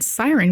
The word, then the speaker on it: SYRN: I pronounced it like SYRN, that laboratory somewhere in Europe, you know the one, and it takes a moment to realize it is a play on Siren, which is just confusing and very unnecessary.